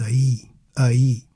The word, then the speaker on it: aí: Aie E without the accent would sound like I which is a single syllable and it means ouch I ouch.